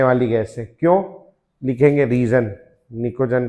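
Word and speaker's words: pnictogen: निकोजंस पी एन आईसीओ P silent है इसमें पी एन आई सी ओ नाम में लिखेंगे पी एन आई सी ओ जी ई एन निकोजन निकोजन ठीक है और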